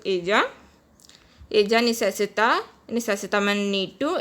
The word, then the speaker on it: ella: Double L is pronounced J. In Spanish it is pronounced ella.